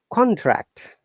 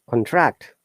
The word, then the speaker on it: contract: Similarly, contract, noun, contract, verb.